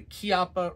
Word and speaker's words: Chiappa: Okay, so today we are looking at the Chiappa, pronounced Chiappa, this is Italian, the Chiappa Rhino 30DS.